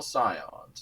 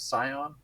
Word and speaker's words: Scion: So this is the Royal Scions. Is that how you pronounce that? Scion? Like Scion Yeah. of Darkness?